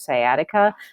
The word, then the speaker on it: sciatica: nerve and a really common one is called sciatica that's how you pronounce this word sciatica so it's a typonaritis and this is the